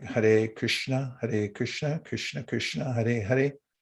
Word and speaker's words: Hare: Hare, it's pronounced Hare.